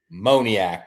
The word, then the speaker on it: Moniak: Moniac, dude. Say it. Mickey Moniac? Yeah. Mickey Say Moniac.